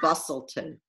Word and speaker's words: Busselton: seaside places that they went, like Bunbury and Busselton. Am I pronouncing that right?